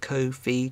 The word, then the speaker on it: Ko-fi: I've seen them say on Twitter, it said Ko-fi to rhyme with no fee.